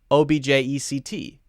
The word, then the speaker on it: object: O-B-J-E-C-T, object. Object, noun. Object, verb, object.